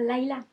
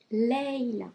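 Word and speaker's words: Layla: l'avez en France aussi c'est pas parce qu' sécrit l a y la a qu'on prononce pas leilla c'est pas lailla leilla s'il vous plaît ça mon fait 17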